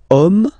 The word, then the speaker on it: homme: Okay, and then here we've got the word homme, man. Okay, but then it starts with H, as in French, H is not pronounced, so the first sound that we hear is O.